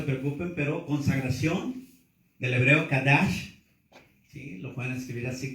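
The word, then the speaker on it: קדש: Algunos ya lo apuntaron, así que no se preocupen, pero consagración, del hebreo kadash, ¿sí? Lo pueden escribir así, kadash con C, acento en la A, SH al final, kadash.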